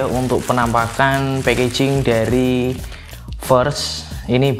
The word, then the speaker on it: VEARST: Yoi, jadi ini dia ya untuk penampakan packaging dari First. Ini bacanya gimana ya? First ini ya, untuk ejaannya V-E-A-R-S-T, ST aja tapi nggak pakai 12 ya John.